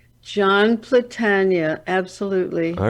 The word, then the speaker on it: Platania: Can you pronounce his last name? John Platania? John Platania.